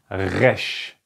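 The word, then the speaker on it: ר: Now the next letter is pretty hard to pronounce. The next letter is called resh.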